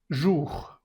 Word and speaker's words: bonjour: Entonces esto se dice boom. No pronuncias esa n, solo es la bondido nasal. Bom, bom. Y luego la siguiente sílaba que es jug. Jug. Bun. Bonjour, no es n bonjour.